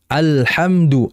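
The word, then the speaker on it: الحمد: Seperti contohnya dalam membaca Al-Fatihah, alhamdu, alhamdu, maka merupakan kesalahan kalau kita langsung alhamdulillah, alhamdulillah. Kalau seperti itu berarti lamnya enggak ada aliran, enggak jelas alirannya.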